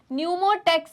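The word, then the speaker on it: pneumotaxic: कैसी बातें करते हो पी से पोस और न्यूटेक्स सेंटर तो एन से स्टार्ट होगा नहीं बेटा न्यूमो का क्या है spelling P ई पी एन ई U ammo न्यूमो centre right okay तो यहां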